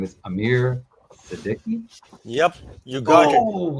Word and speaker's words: Amir Siddiqui: I'm going to say his name is Amir Siddiqui.